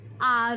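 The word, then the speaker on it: hour: अ हाउस होता है बट एन आर होता है।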